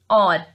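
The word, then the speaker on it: hour: यहाँ पे एच is silent and will pronounce it और, ठीक है, तो यहाँ पे ये ओ की आवाज दे रहा है, सो आई यूज हियर एन और।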